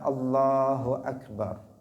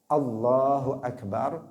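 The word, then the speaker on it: الله أكبر: Kemudian hamzah pada lafzul jalalah juga jangan dipanjangkan. Allahu Akbar, jangan dibaca Allahu Akbar. Itu juga keliru. Karena kalau dipanjangkan maka di sini hamzahnya ada dua.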